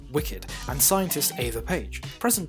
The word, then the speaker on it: WCKD: A mother drops off Thomas as a child with organisation WCKD, pronounced Wicked, and scientist Ava Page.